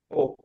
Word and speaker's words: を: kata bantu wo ditulisnya pakai O dibacanya apa Marco? Oh, Oh, kata bantu E ditulis pakai apa Marco?